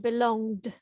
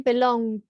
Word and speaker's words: belonged: belonged be long nearly we want to get that d sound belonged be long one more time belonged belonged that's it you've got it well